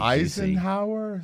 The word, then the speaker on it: Eisenhower: It's going to be Eisenhower? Eisenhower. Spelled like ice and Hauer.